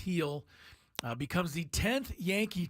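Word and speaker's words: Gil: the Year heel uh spelled g l but pronounced heel uh becomes the 10th Yankee to win rookie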